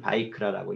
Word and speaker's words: ויקרא: 예, 히브리어로는 바이크라라고 읽습니다.